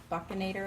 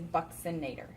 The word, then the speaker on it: buccinator: nadir the fun one a lot of people don't say it correctly and when I was teaching human anatomy with like four other instructors we all said it a different way I called it the buccinator I think was what I called it but we all looked it up every single one of us got it wrong the correct way to say it is Bucks inator so the Bucks inator